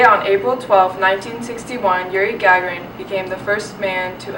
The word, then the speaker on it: Gagarin: Gingrich? No, Sammy, it's Gagarin.